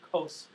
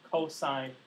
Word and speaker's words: cosine: hypotenuse the cosine range of ratio not the COS ratio it's cosine cosine of an angle is equal to the